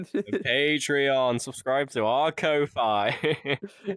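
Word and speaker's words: Ko-fi: Subscribe to our Kofi. Oh, yeah. It's on Kofi. Kofi. Apparently, it's pronounced coffee.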